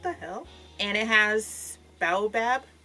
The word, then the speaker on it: baobab: And it has baobab. How do you pronounce that?